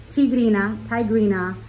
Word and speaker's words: Tigerina: It's from Brazil, so I'm going to say it like in a Spanish. Tigerina.